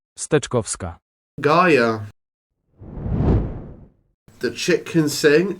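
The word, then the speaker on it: Steczkowska: Justina Kakowska, I believe it's pronounced Stkovska.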